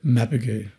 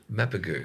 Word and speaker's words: Mapugu: Mapugu. What? Mappu. Mapagu. So it's pronounced in mapagu or but in in Australia it's mapu. It gets butchered a lot.